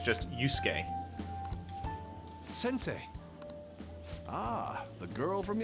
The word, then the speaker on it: Yusuke: It's weird that it's pronounced Yusuke, like there isn't a U in between the S and the K. I would have, if I just saw that, I'd go Yusuke.